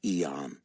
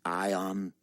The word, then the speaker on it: Eon: no sir you know in english your name is not pronounced eon it is pronounced ion an atomic term and when the american